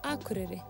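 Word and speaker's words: Akureyri: flight from Reykjavik is the beautiful town of akure situated on the shores of the North Coast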